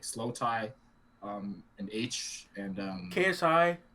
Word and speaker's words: Aitch: His name is H. It's spelled like AITCH.